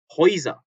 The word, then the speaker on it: Häuser: Häuser 이렇게 die Häuser 하고 아 umlaut에다가 에까지 붙어서 Häuser 발음 조심하셔야 되죠.